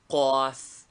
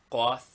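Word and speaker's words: قاف: Name, Qaf. Equivalent, K with a dot under it. Pronunciation, a very guttural K, like K in thick, only much stronger. Name, Kaf.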